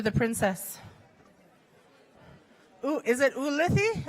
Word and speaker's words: Ulithi: Ooh, is it Ulithi? Ulithi.